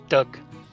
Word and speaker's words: Doug: I say your name, I pronounce the G or not? Do or Yes, dog? Doug. Pronounce Doug. it like you're digging a hole.